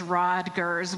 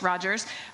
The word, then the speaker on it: Rogers: So it will no longer matter whether I've mispronounced your name as Rodgers when it's Rogers or any other mistake that might happen up here today.